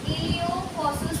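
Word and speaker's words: iliopsoas: पेल्ल्वस और Thai इलियोफस इलियोफस P silent में एस ओ ए S last में बाद में है पेक्टिनियस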